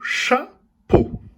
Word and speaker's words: chapeau: Dans le mot chapeau, on entend le son O dans la deuxième syllabe, à la fin du mot. Chapeau. Dans la syllabe po, on sait que la lettre P fait le son P. Donc, ce sont les lettres à côté qui font le son O. Les lettres E, A, U.